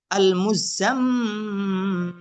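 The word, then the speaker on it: المزمل: মুমাদ্দাদাতিন মুকাররামাতিন মুতাহহারাতিন জিন্নাতুন আল মুজাম্মিলু। এটা একটু বানান করে দিই, হামজা লাম জবর আল, মিম জা পেশ মুজ, আল মুজ্জা মিম জবর জাম, আল মুজাম মিম জের মি লাম পেশ লু, আল মুজাম্মিলু।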